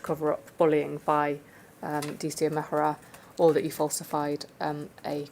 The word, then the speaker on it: Mehra: Mehra.